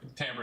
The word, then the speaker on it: timbre: Timbre is desperate, right? You mean Timber? Not Timber. You mean Timber? It is Timbre. Everyone, please pronounce it. Why wouldn't it be Timber? Because it is a musical word.